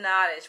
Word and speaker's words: Nottage: pronounced her name lynn noddish but it's like cottage though she said that